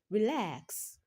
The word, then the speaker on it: relax: Most two-syllable verbs stress the second syllable, e.g., relax, relax. In the word relax, lax is the second syllable and it takes the stress.